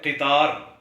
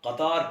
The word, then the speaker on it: قطار: ہے۔ ایسے ہی ایک لفظ ہے قطار، یعنی قاف کے نیچے زیر پڑھا جائے تو یہ تلفظ درست ہے، جبکہ اکثر پڑھے لکھے لوگ یا طلباء قطار پڑھتے ہیں۔ اچھا، ایک اور